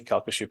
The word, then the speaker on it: Calcasieu: see these centers taking off in big cities kashu and I've learned to say it properly kashu Parish part of the shu is uh more